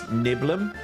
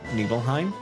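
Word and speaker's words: Nibelheim: It's Niblum, not Nebleheim. That one's contentious for everyone, but Niblum.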